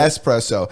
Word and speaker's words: espresso: I know there's no X in it, It's but- espresso.